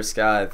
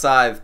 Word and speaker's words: scythe: also can't wait for Skye or Scythe sorry it's pronounced Scythe people I'm sorry um but